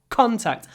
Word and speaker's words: contact: mouth c c c contact I also pronounce the C with my mouth open contact contact mouth open don't forget another sentence